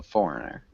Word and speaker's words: Foreigner: questions um and Juda when we pronounce Foreigner it's the first syllable so Foreigner foreign forign Foreigner yeah